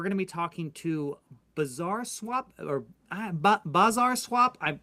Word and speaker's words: Bazaar: You've heard the word bizarre. It's bizarre. Bizarre swap. It's Bazaar. Okay, it's spelled differently. Phonetically, I'm trying to say it correctly. Bazaar Swap.